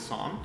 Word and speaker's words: Saam: And my name, I guess, it's spelled with two A's technically, so the correct pronunciation is Saam.